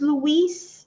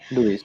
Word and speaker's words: LUIS: next question Andy Jeremy is asking so is Louise um did I pronounce that correctly or do you say Luis okay Luis yeah you did mention it is from Microsoft